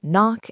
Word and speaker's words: knock: Yes, the K is a ghost. We don't say kno. Same thing with knife, knock, and knee. That K used to be pronounced a long time ago, but now it's just a historical marker.